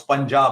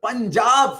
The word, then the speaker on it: Punjab: But I'm just saying, it's quite easy because P-U-N, even if you break it up, pun, right? No, just pun. So pun. Like puns are what we have in these shows. Anyway. Terrible. Punjab, for heaven's sake, Punjab.